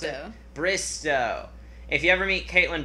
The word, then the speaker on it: Bristowe: If you ever meet Kaitlyn, remind me of the last name, how to pronounce it? Bristowe.